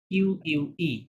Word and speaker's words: unique: Unique. শব্দটা উচ্চারণ হবে উনিক।